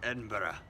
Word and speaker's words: Edinburgh: won't edit it out anyway very much enjoying Edinburgh which is how you pronounce it pronunciation is hard dudes all right